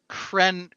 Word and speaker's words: Krennic: Krennic. Krennic. Krennic if you use the original Coruscanti pronunciation.